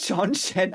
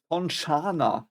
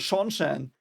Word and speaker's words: Seanchan: them in German, like Shonshana. That's what they pronounce them in German. And I was like, no, they're called Shonshan. And she just confirmed it. She just confirmed that they were pronounced Shonshan.